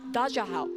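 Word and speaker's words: 大家好: It's ni hao, daja hao. And I know my Ni hao, pronunciation isn't great, but daja first, hao.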